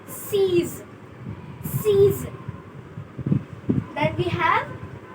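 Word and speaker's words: six: We write it same, but we pronounce it as seize.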